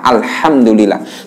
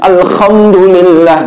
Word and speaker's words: Alhamdulillah: Itu kalau pakai ha, Alhamdulillah. Tapi kalau ada orang kok membacanya Alhamdulillah, nah, ini kalau dia tahu artinya ini sok kufur. Naudzubillah min dzalik. Karena apa? Kalau Alhamdulillah itu artinya kebinasaan bagi Allah. Khamdun maknanya padam, mati, binasa.